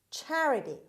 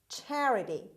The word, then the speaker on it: charity: again word number 11 charity charity charity the stress is at the beginning means generous giving to